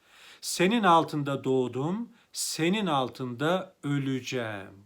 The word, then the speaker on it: öleceğim: altında doğdum senin altında öleceğim bakınız burada e harfi daralma kuralıyla üye dönüşüyor öleceğim şeklinde telaffuz ederiz yine ğ de var